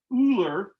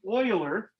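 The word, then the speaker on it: Euler: was it looks like ooler but it's actually it's a German word it's pronounced Oiler like oil so Oiler was this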